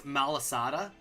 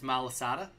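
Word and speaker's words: Malasada: It's Malisada. I'm pretty sure like 99% sure it's Malisada. Uh for the guy's going to he's got a this is going to suck if he evolves. So Malisada number one.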